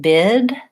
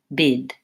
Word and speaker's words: bid: So instead of saying bead and bid using vowel E and vowel I, they would just say bead and bid.